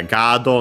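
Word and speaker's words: ガードマン: As for its accent, okay, luckily the accent is on the ga, on the first mora. So yeah, gado on its own would be accented like that also.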